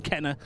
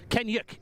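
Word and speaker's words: Kennaugh: half as good as Hudson Kenner, as is the anglicised version of the name is, Kenyuk is the correct pronunciation. It is of Manx heritage. That is where the name comes from.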